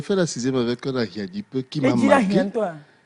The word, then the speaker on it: Ahiadipe: La prononciation correcte, c'est Ahiadipe.